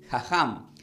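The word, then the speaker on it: חכם: la palabra del hebreo la palabra sabio se pronuncia como jajam entonces que es igual a vivir de acuerdo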